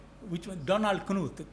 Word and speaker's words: Knuth: Donald Knuth, K-N-U-T-H. He says don't pronounce it as Knuth, because K-N we have a tendency to, I think, Polish origin, but a Stanford professor.